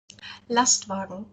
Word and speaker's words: Lastwagen: it marmalade or Mada uh ler truck um lastwagen oh my God I don't think I can pronounce that you say it again last v